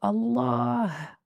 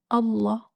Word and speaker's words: الله: the name of Allah, don't forget the sound of the ha at the end, because the name of Allah is Allah, not Allah, like some people say.